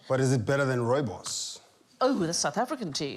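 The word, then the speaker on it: rooibos: yeah it's astonishing but is it better than ROI boss over the South African ji is news I'm so glad that you said I didn't know how to pronounce that Gregg was I've been calling it Ruby booze for yes I was 33 still ordering take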